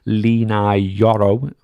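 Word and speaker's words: Leny Yoro: AR going to cough up the books for lenai yoro that's how you say his name Money Ball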